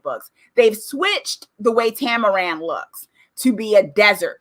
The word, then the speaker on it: Tamaran: the show started but their home planet right tamaran yes their home planet tamaran now in the